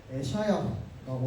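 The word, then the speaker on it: ישעיהו: 이사야의 이름은요, 히브리 원어 발음으로 에샤야라고 하는데, 이거는 뭐냐면 여호와께서 구원하신다라는 뜻이에요.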